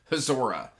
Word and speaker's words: Hazora: We've got King Jeremiah, which he is the king of the, I can't pronounce it. It's like H-Z-O-R-A-H. Hazora, I think is how it's pronounced.